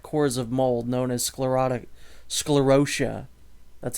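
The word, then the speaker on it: sclerotia: the hard pack cores of mold known as sclerotic sclerosia that's how they pronounce it's sclerosia begin to break down on a cellular level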